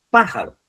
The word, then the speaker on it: pájaro: Dice así, pájaro. Pájaro, fijaros en cuál está. En la antepenúltima.